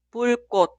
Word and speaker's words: 불꽃: Esta palabra significa chispa y se pronuncia 불꽃, 불꽃, 불꽃.